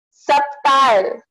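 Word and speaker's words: subtle: Subtile. So here the B is silent.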